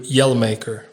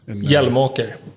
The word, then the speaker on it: Hjelmåker: how do you pronounce that second name? In English, it's turned into Hjelmåker. Yeah. Do you yell? I don't yell much. So that is not a proper representation of who you are. Not quite, no. Wouldn't say so. But how do you say it in Swedish? Hjelmåker. Hjelmåker. Oh, there you go. Hjelmåker. Yeah, exactly.